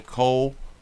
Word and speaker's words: Coulter: Brian Coulter. Let me. Brian Coulter. Brian Coulter. So that's how you pronounce it. Brian. Well, that's how you spell it. Coulter. I got too many O's. Cole and then Tur.